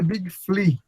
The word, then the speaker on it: Big Flea: Escreve Big Flea, mas a pronúncia é Big Flea, tá?